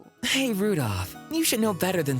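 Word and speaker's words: Rudolf: i know some anyway this guy's name is pronounced rudolph you must hate grandfather for giving him that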